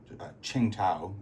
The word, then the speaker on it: Qingdao: The Japanese have finally, on their turn, they finally walked into Qingdao, is how it's pronounced, and took Carolina, give themselves a bit more money, take away $2 from the Germans' income tracker.